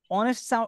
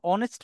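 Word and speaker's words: honest: আমরা কি বসাবো এন অনেস্ট অনেস্ট উচ্চারণ করতে গিয়ে আমাদের প্রথমে কি সাউন্ড আসতেছে অতাইলে আমরা কি বসাবো এন অক্সফোর্ডের প্রথমে কি সাউন্ড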